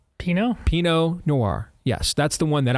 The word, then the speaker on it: Pinot Noir: How's it pronounced? Pinot Noir.